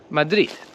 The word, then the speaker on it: Madrid: very strongly we say madrid but in spanish and in polish the d at the end of madrid turns into a t and this happens in